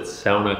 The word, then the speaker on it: sauna: I pronounce it sauna because that's the way they pronounce it in Finland.